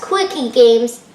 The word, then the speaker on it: Quiche Games: It’s supposed to be pronounced as Quickie Games, but no matter how you say their store name, Caryl is super awesome.